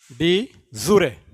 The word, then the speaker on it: de jure: Next आता है, ठीक इसी के ऐसा ही मिलता जुलता, डी ज्यूरे, डी जूरे, डी जूरे, JURE, डी जूरे, डी जूरे, डी जूरे, pronunciation डी जूरा।